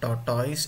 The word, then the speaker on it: tortoise: Okay, so one more an important information is that don't pronounce tortoise. It is not tortoise, it is tortoise.